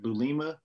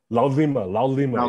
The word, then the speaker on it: Laulima: and what is is the last one I pronounce it? Is it Lulima? Laulima, yeah, Laulima.